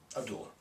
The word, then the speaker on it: Abdullah: Abdullah. I believe that's how you pronounce it.